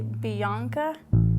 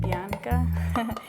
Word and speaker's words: Bianca: enjoy those videos now I've heard people say Bianca like with like a why in there somewhere instead of Bianca and then don't mean